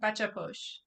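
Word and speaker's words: bacha posh: But the practice of bacha push in the book, okay, how do you say it? Because I know I mess it up. You had it right. Bacha push.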